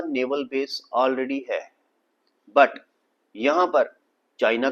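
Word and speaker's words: Djibouti: और यहां पर एक कंट्री है जिसका नाम हैबोटी ठीक है इसके स्पेलिंग डी से स्टार्ट है डी जे आई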